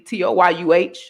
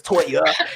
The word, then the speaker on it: Toya: Just to be clear, y'all, my mama did not name me Toyuh. I know people that confuses people like it's Toya.